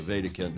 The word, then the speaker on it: Wedekind: messaging it says Julia Vatican with a WWE D I always pronounce it like it's the German uh because it is a German name w-e-d-e-k-i-n-d as I'm sure